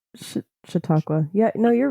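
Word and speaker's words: Chautauqua: Um so on August 12th 2022 Salman Rashi was scheduled to give a lecture in I don't like pronunciation shioa what is ita it's shiakwa yeah no you're right in New York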